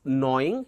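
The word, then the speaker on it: gnawing: and next one is knowing here g is silent knowing knowing means biting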